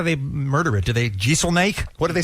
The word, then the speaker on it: Jeselnik: Because it's pronounced exactly the same way it's spelled, I think.